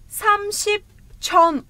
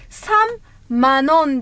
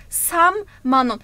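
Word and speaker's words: 삼만 원: Samship chon ama böyle okunmuyor Korece'de. Sam manon diye okunuyor. Sam manon.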